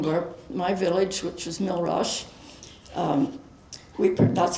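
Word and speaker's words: Mille Roches: Well, the places that were flooding were my village which was Milash. Um we that's how we pronounce it just like Rakid de Swashim became Swissa.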